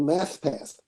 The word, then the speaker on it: Mathpath: other thing I wanted to mention to you was a summer camp called Math Path. Have you heard of that? No, haven't. Mappa? Math Path. It's spelled Mathpath. Math Path.